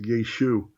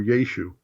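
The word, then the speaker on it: ישו: the form of Aramaic, it would have been pronounced Yeshu or Yeshu. The ayin when spelled would be there, but it wouldn't be pronounced.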